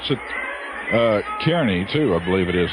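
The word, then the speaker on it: Kearny: pronounced I would I would pronounce it uh Kerney too I believe it is Nebraska Kerney Kerney is what I would pronounce it but he says it's Carney back there name after some guy whose name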